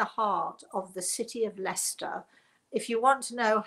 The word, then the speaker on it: Leicester: want to know how if you look up leicester you'll never find it if you spell it the way it sounds e s t l-e-i-c-e-s-t i yes it's a weird thing l e i c